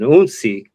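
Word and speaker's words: hounsi: There's, the initiate of the house, which is referred to as an unsi. Again, spelled with an H, but the H is silent.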